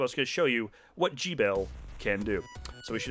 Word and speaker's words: Gebel: I remember the trailer pronouncing his name strange. It's like Gebel. You think it'd be like Gebel.